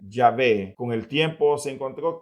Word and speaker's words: Yahvé: Sin embargo, algunos comenzaron a afirmar que una mejor pronunciación o una mejor traducción del nombre de Dios no era Jehová, sino que Yahvé.